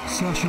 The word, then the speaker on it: Saoirse: Sasha Ryan. El problema es que hasta ahora muy pocos saben pronunciar correctamente su rebuscado nombre irlandés.